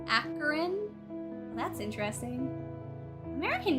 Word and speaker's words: Akron: It's pronounced Akron.